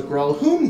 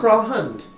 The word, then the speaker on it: Gralhund: episode where the party delves into brawl whom to Villa not brawl hunt Thank You Waterdeep try